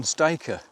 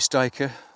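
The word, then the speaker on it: styca: think that's a Saxon stiker. I think you pronounce it stiker, S-T-Y-C-A. I could be wrong, but stiker, I go for stiker.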